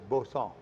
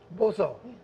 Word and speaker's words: Boston: Now, I said it wrong. I said Boston Canal is Bosson. Bosson.